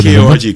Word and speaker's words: Korg: KORG Korg. Yeah. Okay. And Pronounce it properly. Oh, so yeah. cool. Yeah, I got to pronounce it properly. Yes. There's a G at the end.